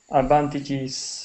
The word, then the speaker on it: advantages: terrain and uh advantages advantages it's the plural and so one advantage two advantages there's an extra syllable there and here we go